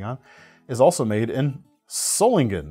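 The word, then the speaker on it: Solingen: If you just look up pronunciation online, I think the top result right now is a very English pronunciation of the word salingen. But I used I I learned to pronounce this word with the kind of sz the zz sound zulling from our friends at Boer Germany.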